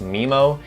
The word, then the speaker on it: Mimo: with the Osmo pocket I believe it's pronounced MIMO it's called my moment which allows you to